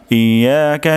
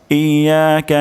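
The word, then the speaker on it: إياك: الحمدللہ রাব্বিল আলামিন আর রাহমানির রাহিম মালিকি ইয়াওমিদ্দিন ইয়াকা নাবুদু ইয়াকা নাস্তাইন তাহলে আমরা আজকে এই আয়াতটি ভেঙে ভেঙে উচ্চারণ করব প্রথম শব্দটি হলো ইয়া ইয়া ইয়া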